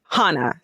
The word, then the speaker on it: Hana: Hana rhymes with sauna.